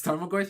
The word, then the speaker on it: Tarmogoyf: So like I had how do you pronounce it? Tormagoyf or Tarmogoyf. Tarmogoyf? The Goyf? Yeah, it's Tarmogoyf.